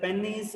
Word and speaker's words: penis: like pennies okay but if you observed in movies or in the western dialects they call it as like penis okay both the both